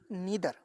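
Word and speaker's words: neither: এখানে দেখো এটা নাই দ্বারা আমরা উচ্চারণ করি, কিন্তু আমরা অ্যাকচুয়াল উচ্চারণ হবে, প্রোনাউন্সিয়েশন আমরা কি করব, নিদার, ঠিক আছে, ইদার নিদার।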